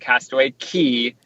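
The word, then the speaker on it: Castaway Cay: a C A Y, it's actually pronounced Castaway Key with like a key in your door.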